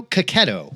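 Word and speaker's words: Checchetto: Marco Cacchetto, which we just found out, that's how he pronounces his name, is the secret weapon on Zdarsky's Daredevil and Hickman's Ultimate Spider-Man.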